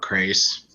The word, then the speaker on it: Crais: chasing darkness by robert crais i think that's how you pronounce his last name it's like Craig but an S instead of a gee I'll sure and it's